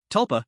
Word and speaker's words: Tulpa: Tulpa, pronounced the same as Tupa, can be translated as phantom person.